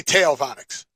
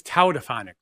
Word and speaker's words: tautophonic: Tailphonic is the word. Right? I don't think that's correct. I think you're close. I believe it's tautophonic. Tautophonic? Tautophonic. TAU is tau. Tautophonic.